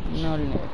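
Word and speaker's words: Mjölnir: क्या नाम है म्योलनियर एम जे ओ एल एन आई आर J silent है म्योलनियर प्रोनाउंसिएशन अजीब है मुझे भी पता है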